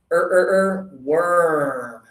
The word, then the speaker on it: worm: We have to have our lips forward and open. This one is worm.